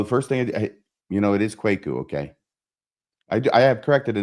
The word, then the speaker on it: Kwaku: And so the first thing, it is Kwaku.